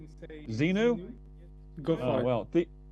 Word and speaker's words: Zenou: I mean, it's anyone's guess, including mine, but I guess you can say Zenu. Zenu.